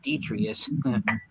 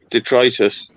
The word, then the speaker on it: Detritus: been mispronouncing his name I thought his name was pronounced detrius detritus oh detritus okay thank you volicious for